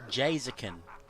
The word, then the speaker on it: Jazakin: Well, he said it's pronounced Jazakin in the Twitch chat, so I guess he's very particular on how it is.